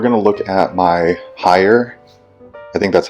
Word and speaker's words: Haier: So we're going to look at my Haier, I think that's how you say it, H-A-I-E-R, refrigerator.